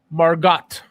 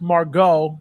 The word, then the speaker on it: Margot: You forgot the T. Margot. It's Margot. Pronounced Margot, but it's Margot.